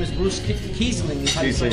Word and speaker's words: Reisling: Reisling is how you say it. Yeah. Reisling, and like the Reisling, right? Like the German wine.